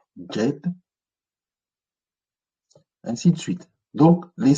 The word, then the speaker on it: Djed: Pilier Djed, c'est le D avec le trait en dessous, et D, donc ça se lit Djed, ainsi de suite.